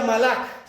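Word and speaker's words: מלאך: y las siete estrellas la palabra en hebreo Ángel se pronuncia malac si lo traducimos hermano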